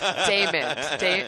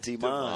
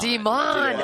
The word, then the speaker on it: Demond: Everyone, get that name confused. Either it's Damon, Desmond. Yeah. Oh, Nah, yes. it's Demond. Demond.